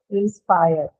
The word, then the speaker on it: inspire: In inspire, it is on spire, and on improve, it's on prove. Yet inspire doesn't have an aspirated per because although per is a part of the stress syllable, it doesn't appear in the beginning of the syllable.